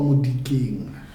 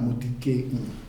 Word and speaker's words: Molikeng: how do I pronounce your name correctly? You say? Yeah, Molikeng. Molikeng? Yeah, Molikeng.